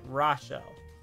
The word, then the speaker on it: Rachel: Rachel he has my name is pronounced with SH instead of a CH if you didn't know think of it like this like Rasha oh I said right